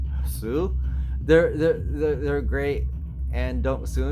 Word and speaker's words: Hsu: If you want to know, and I don't want to cast dispersions or anything, but because HS Zoo, I think they're pronounced, or just Sue, they're great, and don't sue me.